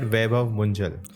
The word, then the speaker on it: Vaibhav Munjal: Am I pronouncing it right? Vaibhav Munjal.